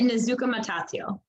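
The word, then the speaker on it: Nezhukumatathil: professor at Fredonia State her name is Amy nazuka matatio oh boy okay so if you think skajaquita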